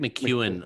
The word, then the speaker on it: McKeown: Greg McKeown, or it's spelled McKeown. I may be, as I said to you before we press record, I may be Australianizing it, but yeah, that's how I pronounce it.